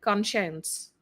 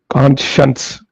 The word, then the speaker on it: conscience: Conscience. Conscience. S H U N. Sh.